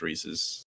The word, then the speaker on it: Reese's: It is pronounced Reese's. The candy is pronounced Reese's.